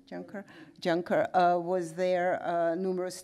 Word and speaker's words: Juncker: John Kerr was there John Kerr you pronounce it Juncker John Kerr was there